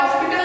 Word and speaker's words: hospital: बट यहाँ पे क्या है, हॉस्पिटल है, that is also using HO. बट यहाँ पे H जो है वो साइलेंट नहीं है, उसका प्रोनाउंसिएशन हो रहा है.